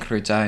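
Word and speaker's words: крута: So krutaya's girl, kruta's boy? Yeah. Yeah, I thought so. Because Yeah. the flowery extra syllable of Exactly. feminism. yeah. With your blessing, I'd love to start saying kruta and krutaya when something's cool.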